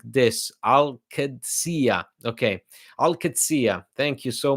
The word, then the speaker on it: Dybala: to celebrate the end of this Saga it's pronounced like this aladia okay Alia thank you so much Abdullah sorry